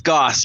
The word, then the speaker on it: Goss: But it's Goss, by the way. That's what I thought. Okay. Yeah, because I Yeah. have a relative who had her cousin has that name, and that's how it's pronounced.